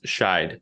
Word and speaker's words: Scheidt: gonna say it too it's shied yeah you nailed it but all right I